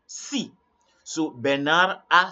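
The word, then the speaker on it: six: In French, you are not going to say 6, you only say si.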